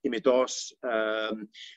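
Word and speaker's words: Υμηττός: envelope protect athens about using modern greek pronunciation mount emitos pandeli egalio each one with its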